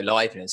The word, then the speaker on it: Leibniz: right, and Leibniz, I'm so glad you said Leibniz, because I have never known how to pronounce that biscuit.